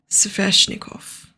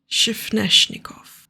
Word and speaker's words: Sveshnikov: It has taken me ages to learn how to pronounce that word, and I'm pretty sure that I'm still not nailing it. Sveshnikov. Shifneshnikov.